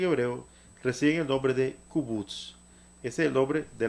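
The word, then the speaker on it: קובוץ: Entonces esta palabra se pronuncia kubutz.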